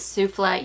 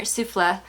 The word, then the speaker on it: Souffle: When I pronounce it souffle, you tell me to pronounce it souffle.